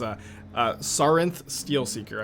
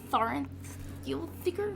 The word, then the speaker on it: Sarinth Steelseeker: Can you say the name of the card so I can learn how to pronounce it correctly? Yeah, that's Sarinth Steelseeker.